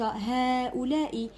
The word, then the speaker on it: هؤلاء: نفس الشيء هذه، هذاني، أولئك هؤلاء كلها عندها مد لفظا. وشنو معناتها؟ معناتها ننطقوها لكن لا نكتبها.